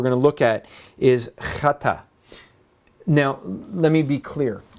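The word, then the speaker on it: חטא: jewish people wear that you actually have to say it like you're going to spit and then say hi you know but it's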